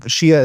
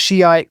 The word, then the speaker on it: Shia: a respect thing, and that Shiite kind of sounds like the word, well, I think we know what that is. I don't want to mispronounce it as I'm prone to do. So I'm going to be using Shia to describe this branch of Islam going forward.